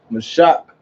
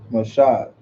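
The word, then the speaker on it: משה: Mashak. No. Stop. Mashak. Isaiah, you want to teach? Wow. All right. There's no K in it. Can you say it again? Mashah.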